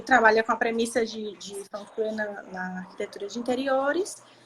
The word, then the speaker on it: Feng Shui: Eu sabia que tinha um nomezinho mais chato, que a gente conhece muito como Feng Shui, né? É, mas na verdade é Feng Shui, né?